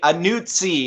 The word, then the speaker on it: Anuzzi: And I always say Anuzzi. It's like pizza. That's how you say my name.